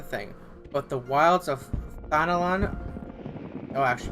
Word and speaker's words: Thanalan: The bustling streets of Uldal, one thing, but the wilds of Thanalan. Oh, I actually pronounced that right this time.